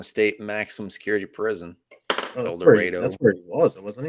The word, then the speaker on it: El Dorado: El Dorado.